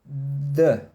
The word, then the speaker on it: the: O artigo definido, the. Quando você fala assim, the car, né? O carro. The house, a casa. The boy, o menino. The girl, a menina. The. Tem um sonzinho meio que parecido com a letra D.